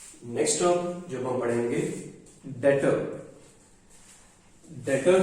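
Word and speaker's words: debtor: Next term जब हम पढ़ेंगे डेटर. डेटर है, इसको डेबिटर नहीं बोलना. इसमें जो बी वर्ड है वो साइलेंट है, तो इसे हम बोलते हैं डेटर.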